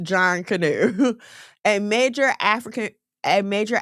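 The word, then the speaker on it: Junkanoo: It's pronounced John Canoe.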